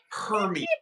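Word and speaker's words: Hermès: It's pronounced Hermes, people. It's Hermes. That's what you did. You did a pronunciation video today. I love it. It says it right on the box, people. Hermes.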